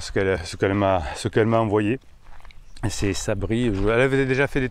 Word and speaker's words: Sabri: Allez, Sabri, qui se prononce comme Sabri le Kiff, qui se présente comme Sabri le Kiff, apprenti padawan de la méthode Marshall.